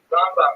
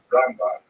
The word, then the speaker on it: Rambam: Rambam is pronounced with the emphasis on the first syllable, Rambam, and Ramban is pronounced with the emphasis on the second syllable, Rambam and Ramban.